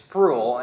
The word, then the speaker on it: Spruill: is Spruill and it's kind of got a different bit of a sound to it it's it's sprue and um growing up yeah the way it's spelled you wouldn't think that's how it is done so